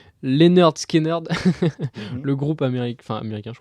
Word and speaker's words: Lynyrd Skynyrd: d y y s'écrie lynyrd skynyrd comme tu dis avec des y non dits les nerd scanner à l'américaine donc dans quel dans